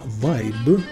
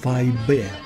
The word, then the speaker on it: Weib: Итак, лысая голова в левом углу кричала со остервенением, что слово «вайб», по-немецки это «баба», нужно произносить как «вайбе».